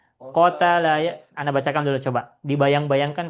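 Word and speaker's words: قَتَلَ: Nah, kita mengikuti wazannya fa'ala. Berarti gimana bacanya? Qatala ya.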